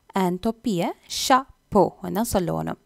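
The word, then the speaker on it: chapeau: அண்ட் தொப்பியை ஷா போ தான் சொல்லணும். அந்த இஏயு அந்த என்னிங் ஓ மாதிரி இருக்கும், ஷா போ.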